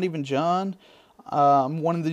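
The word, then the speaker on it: Jauwn: People usually call me in the lobby uh Juan or Jawan because the way it's spelled J A U W N. Well, it's just not even John. So, if you ever catch me in a lobby, you should already know my name, John.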